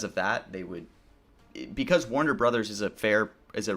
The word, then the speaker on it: Warner Bros.: the company is actually pronounced as Warner Brothers theoretically. Like the correct pronunciation of Warner Bros is Warner Brothers. Um no one really ever says Warner Bros. right? you say Warner, like Warner Brothers is how you pronounce